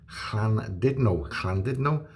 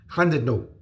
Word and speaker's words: Llandudno: Llandudno, the U is an I, it's not a U. Two L's together is one letter. Two D's together is one letter.